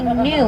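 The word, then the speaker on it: gnu: have a second name it's gonna be new it's spelled G and you it's after that low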